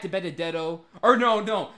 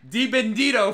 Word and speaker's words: DiBenedetto: Matt DiBenedetto, Matt Diamond DiBendito for the win. He always mispronounces his name all the time.